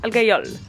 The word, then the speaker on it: Algajola: On est dans un petit village qui s'appelle Algajola, que les Corses appellent Algayol. Les Corses, ils prononcent pas la dernière lettre.